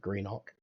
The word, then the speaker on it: Greenock: ascent, going through Greenock, which is how you say that, despite it looking like Greenock. It's like Greenwich, but Greenock.